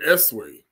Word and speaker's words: Esau: They are Esau, is how they say it. First of all, the Phoenicians are the ones that were saying it, Esau. We said Esway. That's really how you say his name, Esway.